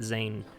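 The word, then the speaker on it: Dzaan: say that the the the d is silent so let's just call it zayn uh can i grab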